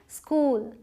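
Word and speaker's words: school: कहलाता है स तो इसे आप इस स्कूल नहीं पढ़ेंगे। बहुत लोग इसे स्कूल पढ़ते हैं लेकिन इ नहीं है यहां पे है। क्या बोलेंगे? स्कूल स्कूल स्कूल।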